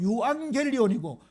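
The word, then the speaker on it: εὐαγγέλιον: g 발음이 나잖아요 근데 감마가 두 개 붙으면 영어에 NG 응 발음이납니다 그다음에 엡실론 람다 이오타 오미크론 뉴 이렇게 돼 있는데요 요걸 읽으면 유앙겔리온이고 그거를 그대로 영어로 옮기면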